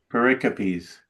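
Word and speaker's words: pericopes: Pericipes. Pericipes. Have you guys heard that word? No. Paricopes.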